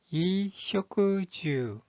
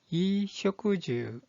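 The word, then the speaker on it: 衣食住: 자, 의식주라는 뜻을 가지고 있는 이 한자의 발음은 이쇼쿠주, 이쇼쿠주.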